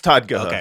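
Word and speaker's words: Tadhg: It's Todd. That's how we pronounce.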